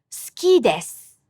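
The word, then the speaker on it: 好きです: The s is unvoiced before the u, and k is unvoiced after the u. No vibration, no voicing in your throat. So the u vowel in between is also unvoiced. The syllable with the unvoiced vowel still gets a beat. It's just the vowel is unvoiced.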